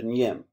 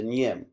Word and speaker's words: Nyim: The Kuba people all follow the leadership of one person, the Nyim. That's spelled NYIM.